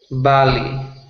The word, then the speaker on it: valley: pronunciation Valley you repeat Valley very good so just be careful with the um with B's and V's so not B but V Valley okay will you try